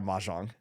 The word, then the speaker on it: mahjong: I don't even know how to pronounce. Yeah, mahjong.